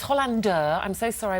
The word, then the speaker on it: Hollander: the Rev this is Tom Hollander and it's Hollander I'm so sorry I mispronounced it earlier Hollander where's that name from probably no where is